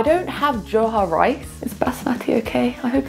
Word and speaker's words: basmati: Is basmati okay? I hope it's okay. - What rice? Basmati, basmati.